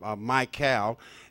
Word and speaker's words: Mikál: And it will appear as u my cal.